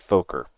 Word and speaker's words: Fokker: So they changed it to, they spelt it the same, but they pronounced it Foker.